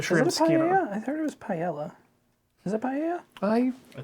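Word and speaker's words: paella: so therefore it's Fancy no cuz the two L's in Spanish would be pronounced with the Y like in Italian and French yeah come on bu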